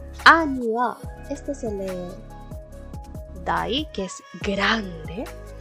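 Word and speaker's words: 大: Ani wa, este se lee dai, que es grande.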